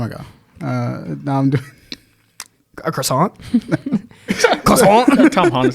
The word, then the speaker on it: croissant: The British pronounce it the French way.